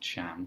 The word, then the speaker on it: Can: And yes, it is pronounced Can because he's of Turkish descent.